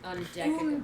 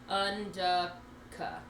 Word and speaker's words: Undecagon: Un as in under, de like duh, unducka.